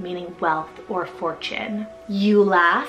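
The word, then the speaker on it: Eula: a Polish rooted name meaning wealth or Fortune Ula spell e u l a Ula this is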